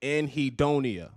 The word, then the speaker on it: anhedonia: Anhedonia.